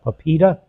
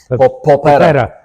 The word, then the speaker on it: Polpetta: And how about then, if I'm probably going to pronounce it wrong, with the Pepita? Polpetta.